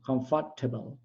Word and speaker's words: comfortable: Comfortable.